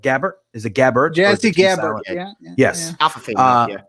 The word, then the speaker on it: Gabbert: Jazzy Gabbert.